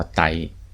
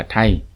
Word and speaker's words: ไทย: นา ออก เสียง ว่า ไต ใน ขณะ ที่ ไทย ของ ชาว สยาม ออก เสียง ว่า ไทย โดย ใน ตำนาน พื้น